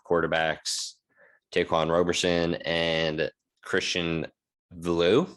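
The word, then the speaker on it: Veilleux: Taquan Roberson and Christian Villu. Is that how you say it? You or Vier? I don't know. You, Vier? It's Canadian, so I'll call him Villu. That sounds like Giroux.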